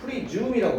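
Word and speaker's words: presume: 띄울까요 여기다가 뭐 했냐면요 프리즘이라고 발음이에요 숨이 아니에요 프리즘 말이에요 가져가는 가정하다가 뭐 있냐면요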